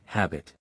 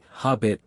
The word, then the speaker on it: habit: I always hear people say habit. Sometimes I accidentally say hobbit very strongly. A more natural pronunciation is h-a-b-i-t. The first part is stressed.